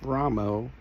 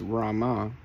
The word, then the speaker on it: Rama: could talk about the pronunciation of the holy name Ramo versus Rama when this is just an accent that got picked up by the Bengales and carried with their